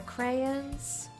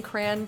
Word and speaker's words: crayon: was drawn with my crayons like it's you're saying crayon but it's two syllables because you're southern and you draw [